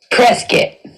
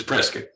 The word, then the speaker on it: Prescott: pronunciation debate prescott versus press kit right oh hundred percent triscuit for asking oh well no if you're local if you're local and let you know it's prescott if you're if you're a